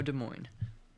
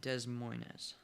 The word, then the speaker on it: Des Moines: But I know De Moines. It's not Dez Moes.